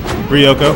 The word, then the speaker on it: Ryoko: How do you pronounce it, Ryu? Ryoko.